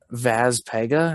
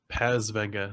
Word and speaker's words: Paz Vega: Vaz Pega, I think. Vaz Pega? It's Paz Vega. It's the Ah, exact Paz opposite.